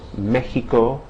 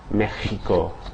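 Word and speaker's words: México: Um, in the word Mexico, you see an X, but that X is pronounced like the H in hat or ham. Okay, so Mexico.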